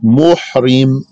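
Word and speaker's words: مُحْرِم: So the one who's in the state of ihram is called muhrim. It's with a ha.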